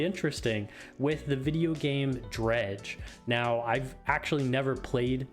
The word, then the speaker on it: Dredge: with the video game Dredge. Now, I've actually never played Dredge, and you'll hear me talk about that more in the live play portion, where I also butcher the name. I called it Dread.